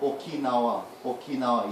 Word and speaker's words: Okinawa: But Okinawa, you have to pronounce each syllable completely separately, no matter what happens after, yeah?